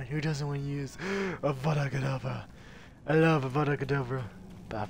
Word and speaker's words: Avada Kedavra: Avada Kedavra.